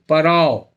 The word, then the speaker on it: पराव: उसका स्पेलिंग उसका था PARAO, पराव।